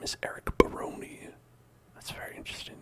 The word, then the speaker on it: Barone: Baroni, it might be Barone, but I'm gonna say Baroni because it rhymes with baloney.